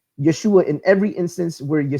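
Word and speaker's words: ישוע: pronunciation his actual Hebraic in Aramaic name is pronounced Yeshua this can be proven by looking at this in the Pacita an ancient Aramaic Bible and seeing the name Yeshua in every instance where your Seuss appears in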